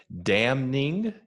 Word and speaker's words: damning: 2 words I was when at TK was damning. You pronounced the N, and softening, was it? You pronounce the letters that are usually not pronounced.